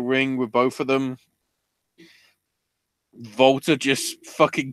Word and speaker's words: Walter: is Volta although I'd like to say that the UK fans are stupid because they kept calling him Walter it's a it's the W is pronounced as a V you prat I am